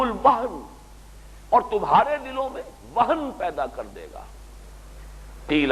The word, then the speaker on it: وہن: یہ واو ہا اور نون ہے، ہمارے ہاں زیادہ لفظ مستعمل وہم ہے، اور میم اور نون میں تلفظ میں ذرا بڑا قریب ہے صوتی اعتبار سے، تو سمجھ لیجئے وہم نہیں ہے، وہن، وہن سے لفظ توہین،